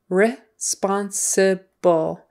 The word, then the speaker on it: responsible: Okay, responsible, responsible, responsible is how we usually pronounce it in casual conversation. Responsible, could probably get away with that. Responsible, the accent is on the second syllable.